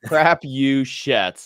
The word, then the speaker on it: Crapuchettes: no way around it so it's crap you shits like it has a whole variety of swear words built into it um and I'll